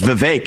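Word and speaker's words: Vivek: open up I say my name's vake it rhymes with cake it ain't about thee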